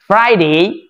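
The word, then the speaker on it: Friday: হচ্ছে এটা হচ্ছে ফ্রাইডে এই এফ এর উচ্চারণ আমরা অনেকে পারি না অনেকে ভুল করি উপরে দাঁত নিচে ঠোঁটে আসবে ফ্রাইডে ফ্রাইডে ফ্রাইডে যারা এই এফ এর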